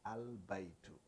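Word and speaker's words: البيت: But now this they call al-qamariyya, al-qamariyya, meaning you pronounce the al itself. You say al-baytu.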